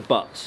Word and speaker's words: butts: Yeah, you see the buttes, butts. I mean, how do you pronounce it? Army, it's the butts.